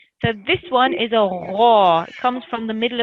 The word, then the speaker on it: غ: So I heard you pronouncing it a little bit like a kha. So it can be mispronounced by that. A lot of people do that. But it's a kha, a gha, and it's one of the thick letters.